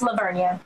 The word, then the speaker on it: La Vernia: What happens when they mispronounce? Is the town La Vernia? Kristen, did you get it right or wrong? It's La Vernia.